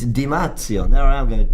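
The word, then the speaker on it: Di Marzio: don rugby channel like did you pronounce it wrong well i pronounced it right just the app i just butchered it it's dimazio there i am going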